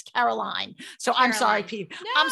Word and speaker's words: Caroline: caroline i think he i keep saying carolyn but it's caroline so i'm sorry pete